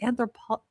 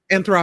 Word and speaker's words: Anthropic: Oh, um Anthropic. Anthropic. Anthropic, thank you. I'm like you want to say anthro po That's not a word.